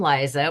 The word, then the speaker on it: Liza: goodness so I am Liza with a z and it's actually pronounced like Manelli Liza Manelli there's a fun